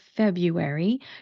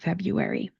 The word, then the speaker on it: February: R's in the spelling, the first R does not get pronounced, especially if you're speaking with an American accent. Instead of pronouncing it February, that sounds very odd to me. We're going to pronounce it February.